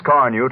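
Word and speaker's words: Carnu: Why not make a note now to buy a can of Johnson's Car New tomorrow? It's spelled C-A-R-N-U.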